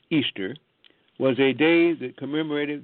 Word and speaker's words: Ishtar: Ishtar, which is pronounced Easter, was a day that commemorated the resurrection of one of their gods that they called Tammuz.